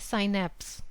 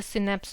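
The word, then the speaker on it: synapse: इसका correct answer है option A, साइनेप्स। इसको आप साइनेप्स बोलिए या सिनेप्स बोलिए, प्रोनाउंसिएशन चेंज हो सकता है।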